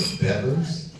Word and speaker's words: Beavers: Tom Beavers, who started pronouncing it Bevers.